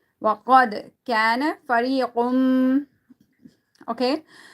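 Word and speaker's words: فريق: وَقَدْ كَانَ فَرِيقٌ. Okay. Now here, qaf, you need to read it thicker.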